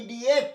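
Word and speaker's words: idiot: দেখো, ইফ, ইন, ইট, ইঙ্ক, ই মানে কালি, এটা হচ্ছে স্টার দিয়েছে এই জন্য ইডিয়েট উচ্চারণটা, ইডিয়েট, ওট অট না।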